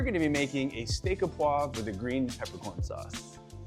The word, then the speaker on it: au poivre: So Martin, is it au poivre? Au poivre.